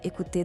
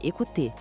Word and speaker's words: écouter: Para essa frase sair perfeita, o foco é na palavra écouter. O E inicial é bem agudo e o OU tem aquele som de U do português. Tente assim, ó.